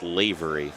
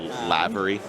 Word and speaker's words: Loh: your last name green my last name is pronounced ly ly so we've been saying it wrong all weekend and it happens I get a lot of lavy yeah I think that's